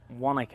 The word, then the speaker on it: Wanaka: And we're in a lovely place called Wanaka. Have I pronounced that right?